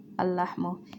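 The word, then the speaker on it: اللحم: an important point where when we say al is a sun letter, so it's gonna attach this is not pronounced the first al lam, so it's going to be attaching to the second lam lahmu.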